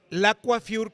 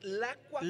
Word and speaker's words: Le Coiffure: Lacuafiur quiere decir el peinador. Ah, es Lacuafiur. Lacuafiur, es como Julio se escribe así. Lacuafiur. Sí, nomás yo le cambié L-E. Pero realmente quiere decir el peinador de Julio. Está en francés.